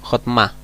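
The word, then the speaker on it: חכמה: Debajo de la Mem tenemos una Kamatz, que en esa sílaba se acentúa más fuerte. Hotma. Esto se pronuncia o se traduce como sabiduría. Se traduce como sabiduría, se pronuncia como Hotma.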